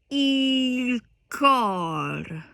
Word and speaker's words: il: Caro mio ben, credimi al men, senza di te languisce il cor. Okay? Il cor. The L is nearly silent.